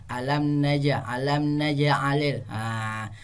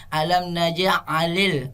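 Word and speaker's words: أَلَمْ نَجْعَلِ: Alam naj'alil. Jadi terus dibaca terang juga. Bunyi pantulannya kecil, bukan seperti ini, nak ya, cara bacanya alam naj'alil, alam naj'alil, alam naj'alil. Bukan seperti itu, tapi seperti air mengalir saja, nak, seperti air mengalir.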